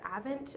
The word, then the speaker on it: Avent: a bottle um occasionally she likes the Avent I think is how you say it bottles the natur